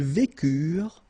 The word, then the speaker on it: vécurent: Ils vécurent, so remember, mark for the plural, and T is not pronounced phonetically, you don't get it, so vécurent, okay?